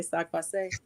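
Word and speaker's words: sak pase: Laroche, I'm gonna say sac passe.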